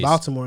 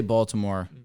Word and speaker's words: Baltimore: Hooper was just he was good in Baltimore, though. Hurst? Yeah. He was good. The way you say Baltimore. Just it's Baltimore. Baltimore? There you go. Yeah. In Baltimore. Like basketball.